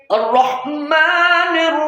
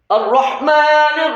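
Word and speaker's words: الرحمن: বলুন আলহামদুলিল্লাহি রব্বিল আলামিন রব্বিল আলামিন আর রহমানির রহিম আর রহমানির এর আগের আয়াতে কিন্তু আলিফ শিখছি, আয়ের উচ্চারণ শিখছি, রয়ের উচ্চারণ শিখছি। কেমন? আর রহ, র মোটা হবে, আর রহ, হ্যাঁ, আর রহ, হায়ের উচ্চারণ শিখেছি।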